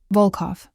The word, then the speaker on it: Vulov: "Vulov, the O sounds deep and round. Vulov."